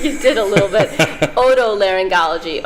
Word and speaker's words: otolaryngology: Otolaryngology. Oto means like ear.